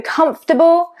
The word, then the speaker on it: comfortable: So comfortable and vegetable is the other one. 3 syllables.